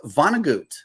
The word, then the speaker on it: Vonnegut: Okay, from the segment this morning, it's Vonnegut, German.